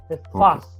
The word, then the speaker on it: fast: No fat. Fat es gordo. Es Eso. fast. Fast. Sí. En inglés tiene que pronunciar la S. No, si tú dices fat, es gordo. Es fast.